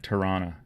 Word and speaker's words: Toronto: about Toronto, and how if you're from Toronto, you always drop the second T, and it's more like Tirana than, But there was another